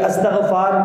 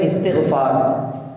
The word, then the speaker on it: استغفار: طور سے استغفار، کہ استغفار سب کہہ رہے تھے بلکہ اس کا تلفظ ہے استغفار، اگرچہ کہ آپ اس